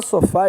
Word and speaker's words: sofá: uma uma sílaba só Qual é a sílaba mais forte da palavra sofá fá Então ela é oxítona